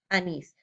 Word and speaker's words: anís: Ejemplos, corazón, anís. Vemos que la mayor fuerza de voz está en la última sílaba, son y nis.